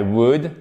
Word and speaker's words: would: I were you I would on ne prononce pas le l ici c'est un ou court I would not do